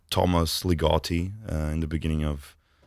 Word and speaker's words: Ligotti: Ligotti.